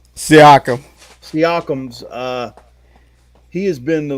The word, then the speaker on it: Siakam: And what's you look at Indiana, and it seems like it's been Sycam. Sycam, that's how you say it. Siakam.